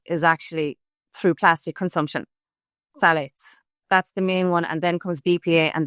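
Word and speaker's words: phthalates: I learned how to pronounce that. The P H T H A L A T. Yes. It's phalates.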